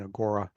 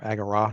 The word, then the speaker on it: agora: in the uh Grecian Agora or agara depending upon how you pronounce it um so you